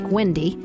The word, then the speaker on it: Gwendy: Not as I was known then, as Gwendy, my nickname that rhymes with Cindy when spoken by my family.